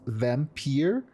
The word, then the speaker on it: Vampyr: Actually, very close to how the game is pronounced. I think it's Vampyr. There, it's more like, you know, the American V instead of the German Vampyr.